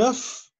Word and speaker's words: œuf: carottes, gazar et des œufs ou بيض. احنا بنقول un œuf des œufs. يعني الاف في السنجولير الاف تتنطق. لكن في البلوريال الاف ما تتنطقش في ليزو.